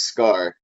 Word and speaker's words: Skaar: of the Hawk, and his name is Scar. Spelled like Sakar the planet without the first A. So it's just Skaar.